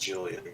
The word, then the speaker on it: Julian: It's pronounced Julian, yes.